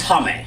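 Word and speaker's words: Chaim: I'm not Jewish, but it's a Jewish name. No, it's Hame.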